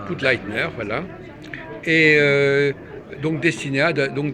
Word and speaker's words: Pudleitner: Voilà, donc je suis avec le créateur de Dessinéa, comment prononce-t-on votre nom? Bah écoutez, Poudleitner, Poudleitner, voilà.